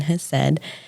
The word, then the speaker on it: Hesed: That is how you say that very confusing word that's in front of counseling, Hesed.